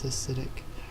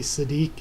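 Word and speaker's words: Siddiq: this acidic or actually I have read that it's actually Sadiq is the way I'm supposed to be pronouncing it but cynic is just so easier to sit so much easier to say will never catch up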